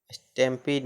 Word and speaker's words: stampede: में ई से जुड़ा हो तो ई का उच्चारण ई होता है। जैसे COMPLETE complete, COMPLET complete, IMPEDE इम्पीड मतलब बाधा डालना, STAMPEDE स्टैम्पीड मतलब भगदड़।